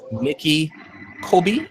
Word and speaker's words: Nicholle Kobi: And it's Nikki Kobi. Am I pronouncing that correctly?